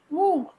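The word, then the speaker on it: मूंग: মুগ, মুগ কি হবে? মুগ হবে মুং। ময়হস্যু গ, এটা বাংলায়, এর মধ্যে একটা অনুস্বার ঢুকে যাবে, মুং।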